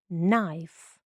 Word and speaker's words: knife: прочитайте самостійно наступне буквосполучення kn в цьому буквосполученні читається тільки буквочка н і вона дає дає звук Н. Н. K звука не дає. KN звук Н. Читаємо за мною. No need. Night. Knife.